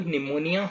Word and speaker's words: pneumonia: निमोनिया starts with P, just to tell you, pneumonia starts with P which is silent.